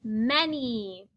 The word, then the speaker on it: many: The A makes an almost E-like sound. It says eh. The N says n. And the Y stands for the long E sound.